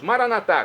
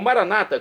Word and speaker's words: Maranatá: E agora eu clamo do aramaico, o dialeto de Jesus, Maranatá, como dizemos nós católicos, ou Maranata, como dizem nossos irmãos separados das comunidades evangélicas ou protestantes. Não importa a pronúncia, o significado é o mesmo.